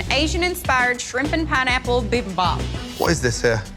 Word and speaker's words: bibimbap: describe your dish this is a coconut jasmine bibby bop bb bop bb mop bimmy bop beam above